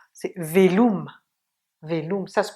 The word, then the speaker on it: Veloma: eh bien c'est le velum. Velum, le et, le e, le o qui est ou et le a, c'est velum.